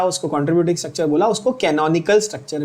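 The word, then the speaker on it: canonical: कैनोनिकल structure क्या बोलते हैं बच्चों, कैनन, कैनन का कैमरा होता है ना, ऐसे याद रखना, कैनन, कैनोनिकल, also called contributing structure.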